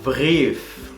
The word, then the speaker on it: Brief: Si acabamos de hablar de E, I con ay, luego tenemos I, E, que se pronuncia como una I.